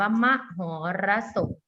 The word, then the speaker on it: มหรสพ: ศรา แต่ เป็น ต่อ เสือ นะ คะ อ่า อ่ะ มหรสพ อ่าน ว่า มัก หรสพ อ่าน ใหม่ 1 2